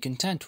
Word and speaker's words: content: كلمة content يعني راضي وخلي بالك بنطقها كده. Content معناها راضي أو قانع. Content غير content ده معنى ثاني. هي نفس الكلمة ولكن بتتنطق بشكل ثاني وبمعنى مختلف.